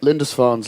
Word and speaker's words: Lindisfarne: and a little psych folk but they're called lindisfarne Oh Linda is that how you pronounce it yeah okay so that's like pretty good Linda's fawn's like uh it's like an island isn't it